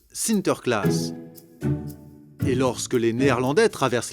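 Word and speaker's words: Sinterklaas: aux enfants aux pays bas saint nicolas se prononcent sinter klaas et lorsque les néerlandais traverse l'atlantique au xviie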